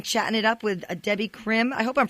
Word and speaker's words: Debby Krim: interview we've been chatting it up with a Debbie Krim I hope I'm pronouncing that right am i perfect perfect terrific